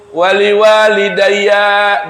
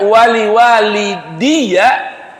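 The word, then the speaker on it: وَلِوَالِدَيَّ: Ini kalau dibaca wali walidayya, wali walidayya. Kalau dibaca wali walidiyya, ya, tadi apa bacanya? Wali walidayya. Kalau dibaca wali walidiyya itu lebih luas lagi arti orang tuanya. Kalau wali walidayya itu bapak dan ibu langsung kita yang lahirin. Tuh, ayah ibu kandung kita.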